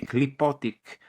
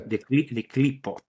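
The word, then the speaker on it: Qlippoth: So the clipotic powers. Now, the clipot is something, I don't know if you ever... What's it called again? The clipot.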